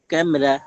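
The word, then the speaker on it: کمرہ: তাকে কেও কামরা বলি কিন্তু উর্দু উচ্চারণে পুরোপুরি কা নয় বরং ফাতাকে একটু নামিয়ে এনে ক্যামরা কামরা ও তারসা করে কামরা কামরা কয়জাফালা মোর আকার কামরা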